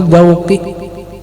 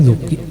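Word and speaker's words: dzauqi: Ini puncaknya pengetahuan itu dauki. Dia orang salah baris juki. Salah baris bacanya daukinya duki. Begitulah duki kita aja.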